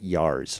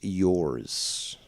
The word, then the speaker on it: yours: It's yours. It's pronounced yours, not yars, okay? It's not like Tasha Yar, okay, from Star Trek. It's yours, okay?